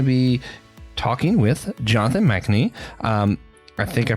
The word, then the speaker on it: Machnee: Today we're going to be talking with Jonathan Machnee. I think I pronounced that correct.